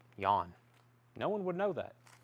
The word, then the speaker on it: Jan: how would you know that's supposed to be pronounced yawn no one would know that foghat stone blue